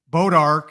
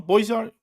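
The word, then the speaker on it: Bois d'Arc: Boat Ark is what a lot of people call that lake, and did I say it wrong? Boys Ark. You didn't. I think that's like how it's actually, but like the French say it. Yeah, how it probably should be said, but I think everybody calls it Boat Ark.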